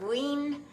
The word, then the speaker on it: Wien: which they pronounce leaner ween which is like wiener and so there you